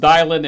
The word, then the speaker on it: Dylan: For John and me, we know exactly what we're talking about, but it's pronounced Dylan, and he spells it DYLAN.